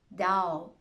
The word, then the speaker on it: doubt: There are also a few words in which the B is silent before the letter T. Okay, these words are that, doubt, subtle.